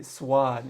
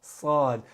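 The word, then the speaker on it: صاد: Or some people say swad. It's not swad. It's sad. And you don't want to protrude your lips when you pronounce the letter sad.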